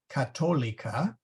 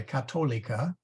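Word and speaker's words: catholica: English C's and G's seas are hard before a o u and a u like katolika and by the way um well we'll get to that maybe I should have done syllables first but anyway katolika okay Gallo de te those are hard C's and G's and then soft before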